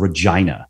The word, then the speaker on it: Regina: professor uh at the university of regina which yes that is the way that you pronounce it he has he has